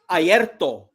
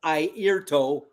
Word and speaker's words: Airto: Oh, and by the way, Mazzy, it's pronounced Aierto, not Airto.